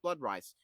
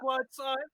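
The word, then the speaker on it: Bloodscythe: I'm not Nemesis Bloodrice. Shut up, demon. Pronounce me correctly. Anyway. Bloodrice? Nemesis Anyway, yeah. Blood scythe, Who blood had- scythe, blood scythe, blood scythe.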